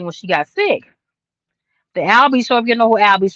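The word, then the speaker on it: Al B. Sure!: Here it's spelled just like it sounds. Al ALLB SURE. Okay, and pull up his old songs, but he has reservations about Diddy.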